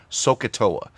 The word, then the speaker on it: SOHCAHTOA: taught the formulas for this are usually taught phonetically so an educator will usually teach this as sohcahtoa so so toa and these are the different